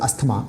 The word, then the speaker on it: asthma: It's pronounced as asthma, but we pronounce it asthma.